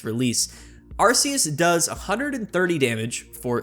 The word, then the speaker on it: Arceus: I know some people pronounce it other ways, but I call it Arceus.